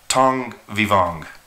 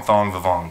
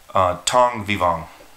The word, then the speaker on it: Thong Vivong: And it's actually, I said his name wrong. So his name is actually Thong Vivong, but I still call him Thong Vivong because I like that better. But it's Thong Vivong, so that's his real name.